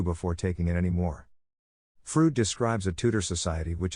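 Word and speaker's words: Froude: add to the fun fruit is pronounced just the way keanu reeves says freud and bill and ted's excellent adventure someday i will read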